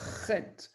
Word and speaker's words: Het: Donc, cette lettre-là, Chet, c'est une lettre qui se prononce de la gorge.